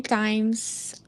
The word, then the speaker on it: times: So remember, one of our focuses is the z sound at the end.